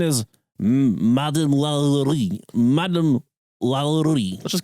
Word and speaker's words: Lalaurie: That's that's fancy that's a Well, I'm going to call her Madam Lalaurie. Might as well we're white. Very white. Just get real white on it. But the correct pronunciation is Madam Lalaurie.